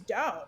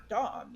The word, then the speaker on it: Daum: casual conversation said, well, your name is Daum. It's not Dom.